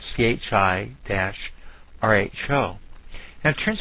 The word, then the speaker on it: chi: we'll get Cairo and is pronounced like the city in egypt cairo so it's also spelled CH I dash Rho and it